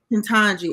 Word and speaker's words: Ketanji: How do you pronounce her name? Ketanji.